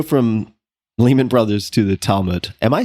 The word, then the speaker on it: Talmud: If you're an American, you're saying it correctly. An Israeli would say Talmud.